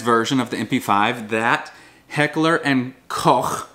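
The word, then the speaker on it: Heckler & Koch: But it was the civilianized version of the MP5 that Heckler and Koch, that's how you pronounce it in German, was able to ship over to the States because they could not legally ship over the MP5.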